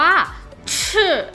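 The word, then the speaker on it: 是: อยู่ คือ นะ คะ ที่ ใน ภาษา จีน ออก เสียง ว่า ชื่อ นะ คะ ตัว นี้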